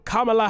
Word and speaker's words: Kamala: repeat republicans so much when they mispronounce a name then you start to slip into it yourself i always think in my head it rhymes with monologue west side of the